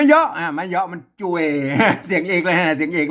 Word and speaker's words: จ้วย: เข้า ไป เนี่ย อ่า จ่วย ม อัน นี้ มัน จ่วย แล้ว ไม่ ใช่ ช่วย นะ ครับ ภาษา ไทย มัน ช่วย นะ อ่า ภาษา า อ่าน ว่า จ่วย นะ จ่วย นะ ครับ มัน